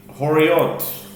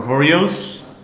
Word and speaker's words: Horayot: Dafomi trackctate horot or horos depending on your pronunciation um horot um page